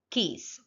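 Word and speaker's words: quays: u a y s it should be pronounced as keys so in the next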